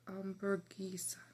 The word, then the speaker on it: hamburguesa: Hamburger in Spanish, you say hamburguesa. It's pronounced hamburguesa.